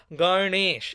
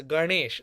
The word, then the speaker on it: Ganesh: That N in Ganesh is a guttural, like a nasal N with your tongue rolls off. Ganesh. It's not Ganesh.